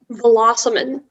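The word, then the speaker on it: vélocimane: all the information uh velociman that's the only pronunciation it's a noun french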